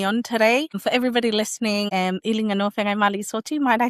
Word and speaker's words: Iliganoa Feagaimaalii Soti: For everybody listening Elijanowa Mali Soti, might I say you did really well in pronouncing my very difficult Samoan name there.